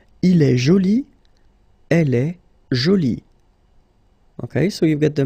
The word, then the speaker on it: jolie: So basically the two adjectives, masculine joli and feminine jolie, are pronounced the same way.